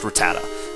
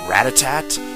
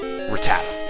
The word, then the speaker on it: Rattata: after that here's a Rattata and it is pronounced Rattata I used to think that it used to be called radic uh uh what I used to think it was um Ratatat and so do a lot of other people